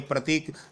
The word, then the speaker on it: प्रातः: प्रात नहीं बोलोगे, प्रातः।